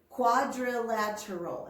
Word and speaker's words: quadrilateral: try that with me quadrilateral it has five syllables one more time you try it quadrilateral good a quadrilateral is